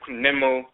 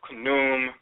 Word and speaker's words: Khnum: So sometimes they'll say Kunwem or Khnum and so forth.